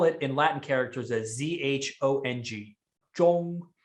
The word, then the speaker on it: zhong: in latin characters as z-h-o-n-g zhong z-h in in pinyin characters is the sound so h now you